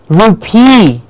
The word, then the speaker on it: rupee: The same way, the Indian currency that we have the rupee. Rupee. It's not rupee, it's rupee. Rupee. Yes, the correct way to pronounce the currency is rupee.